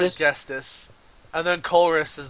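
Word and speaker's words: Ghetsis: How do you pronounce it? It's Gestis. something weird. I think What? it's like Gestis. Yeah, it's not Gestus?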